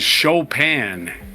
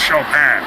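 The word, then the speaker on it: Chopin: Because all he could do is show pan. with this the proper pronunciation. I was like all over that. I was a kid. My dad like that's not that's Shopan.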